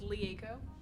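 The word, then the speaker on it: Rieko: it go about yourself my name is Lee Aiko that's spelled RIE ko the are seems like a no um I'm a model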